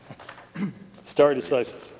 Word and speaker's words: stare decisis: I'll let you pronounce that. Stare decisis.